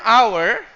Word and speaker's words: hour: Okay, the term hour, this is sick. English is sick. The H is silent. You don't say hour.